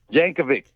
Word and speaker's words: Yankovic: me that's right yankovic is that his real name i got some questions for al yankovic no no h at the end there jankovic yes that's how you say it all these years i've